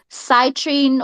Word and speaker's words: citrine: the project is called citrine or citrine how do you say that actually oh it's Citroen like the gemstone yeah foreign yes yes